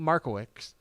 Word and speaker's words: Markiewicz: Then Powers talked with McKinney North tight end Nate Markiewicz. You Close. added in an extra syllable. Yeah. Didn't need to be there.